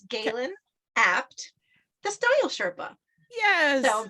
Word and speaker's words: Gaelen Abt: you and I'm just going to correct the pronunciation it's Galen apt the style Sherpa yes so just Galen apt yep nice and easy yes not easy at